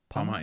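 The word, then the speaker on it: Pawmot: Palmot, yeah.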